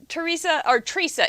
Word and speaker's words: Tresa: We have seen Tresa is T-R-E, like tree saw, right?